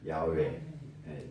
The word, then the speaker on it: 야훼: 정확한 히브리식 발음은 야훼.